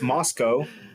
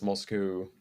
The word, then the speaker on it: Moscow: own personal GTA server so it's Moscow not Moscow oh yeah I've only ever heard it pronounced Moscow so yeah okay that's that's very common weal of you yeah like Americans love saying Moscow and then like everywhere else moscu yeah MOS mosovich yeah